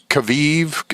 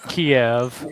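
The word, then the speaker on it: Kyiv: uh so three hereditary clairvoyance in uh Kav Kaviv. Is that how KY Y Kaviv? I'm not sure how you pronounce it, but anyway. Uh it's Kiev.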